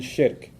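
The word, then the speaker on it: shirk: that out for you to s h iir k so nothing worse for a Muslim from his faith perspective nothing worse than shik s h i r k sounds like Shrek so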